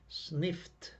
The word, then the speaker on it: sniffed: like the f like the ending e d must be pronounced like as t so sniff sniffs sniffing sniffed sniffed okay the t must be clearance and loud sniffed okay we must